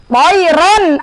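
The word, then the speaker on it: طيرًا: Toiron ababil, bukan toiro. Kan ada yang toiro. Toiron ababil, karena dia hukumnya idhar halki.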